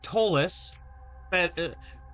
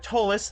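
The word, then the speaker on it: Ptolus: uh called Tolus. Uh Tolus, the P is silent.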